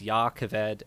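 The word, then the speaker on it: Jah Keved: it's called Yaakov ed this also spelled with a J so both J's are with a Y so it's Yaakov ed and yasna I'll be honest that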